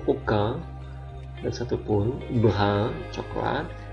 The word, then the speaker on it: aucun: Kemudian AU dibaca O, aucun, dan satu pun.